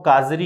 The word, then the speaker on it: CAZRI: तो सबसे पहले अपन बात करें केंद्रीय शुष्क क्षेत्र अनुसंधान केंद्र, जिसको संक्षिप्त में दोस्तों काजरी कहते हैं। इस काजरी की पूरी डेफिनेशन देखना, स्पेलिंग है आपके सामने CAZRI।